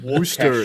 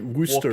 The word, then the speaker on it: Worcester: See, your mistake is you're not supposed to pronounce the R. Yeah, Worcester. It's like Worcester.